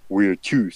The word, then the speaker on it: virtus: that's where the word the Romans used for virtue was virtus. So it's spelled like virtue, but it's pronounced a little bit differently.